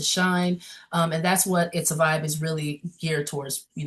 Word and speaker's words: Izza Vybe: So, it's spelled I Z A V Y. It's a vibe.